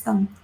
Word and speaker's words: thumb: A thumb that was designed to give lots of thumbs up. You said it. I'm dumb. She said it, guys. Thumb. And the B is silent. Thumb. Your mouth stays closed.